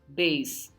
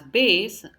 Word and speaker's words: bass: it's also pronounced as Bas depending on the usage the pronunciation changes so this is a